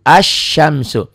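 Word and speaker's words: الشمس: mudah-mudahan paham nih Ashanty ini tulisannya Al Syamsul kan ada l-nya dibacanya l-nya hilang tuh paham Enggak tuh lamnya nggak dibaca beda dengan Qomariah yang tadi kan apa yang ditulis Itu yang dibaca ini nggak ditulisnya begini dibacanya begini beda begono ya ada tapi tidak dibaca tuh As Syam Bagaimana yang bawah yang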